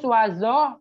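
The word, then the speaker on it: vazo: Terus wazo, pas bunga. Ingat dalam bahasa Turki V sama dengan W. Jadi cara membacanya itu wazo.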